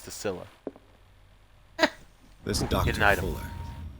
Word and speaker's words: Scylla: It's pronounced the Scylla.